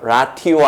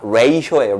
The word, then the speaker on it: ratio: In the ratio, 이거 발음 하나 조심하시고요. ratio 아닙니다. ratio예요.